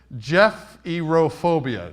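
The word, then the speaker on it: gephyrophobia: who goes through this it's pronounced Jeff erophobia Jeff Jeffrey rufobia so if you're like me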